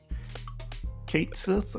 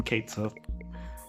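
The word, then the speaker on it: Cait Sith: as a DLC character, Kate Sith or Kachi, however you want to pronounce it, but the game calls him Kate Sith.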